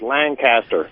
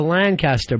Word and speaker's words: Lancaster: From down here in Lancaster, Pennsylvania, everybody says Lancaster. Yeah. People come in, they'll go, "Uh, oh, you're going up to Lancaster." But then the people that live there say Lancaster.